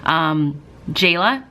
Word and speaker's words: Jalaiah: be Team Charli or Team Jalaiah, is what I've been told is the proper pronunciation of her name, so I'm gonna say Jalaiah from now on.